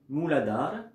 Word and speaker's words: Mooladhara: Il suffit d'inspirer, prononcer mentalement, avec le A muet, Mooladhara.